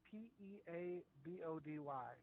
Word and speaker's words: Peabody: quick, It's spelled P-E-A-B-O-D-Y.